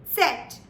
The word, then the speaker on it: Z: So now, when you pronounce the Z, it's very essential that you not miss the T here as well. So while you pronounce the Z, you pronounce it as set.